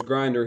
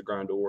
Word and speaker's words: Grindor: Of course, Grinder, he was in the movie, but I think they pronounce him as Grindor instead of Grinder.